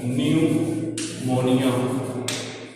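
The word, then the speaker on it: pneumonia: दूसरी डिजीज है which is known as न्यूमोनिया। P silent होता है, ठीक है।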